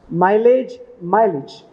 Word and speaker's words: mileage: मैसेज मैसेज, luggage luggage, इमेज इमेज, passage passage, माइलेज माइलेज। अब 20 words उसने लिख लिए तो उसका प्रोनाउंसिएशन आसान हो गया उसको।